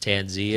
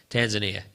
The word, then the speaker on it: Tanzania: there was a guy from I think it's pronounced tanzia it's a country Tanzania yeah sorry about that I'm such an uncultured